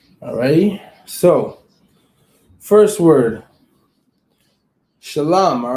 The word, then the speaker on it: shalom: the baby ah all right it's like that shalom not shallow all right that's not that's not how you